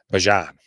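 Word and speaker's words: Bijan: of course I heard his mother uh on a or on a broadcast this weekend the people were talking about that she actually pronounces his name ban so it'll be interesting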